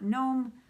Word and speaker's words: gnome: And in my magazine monthly acrostic, the G in mahogany is for gnome. I know the G is silent, but it's still there after all.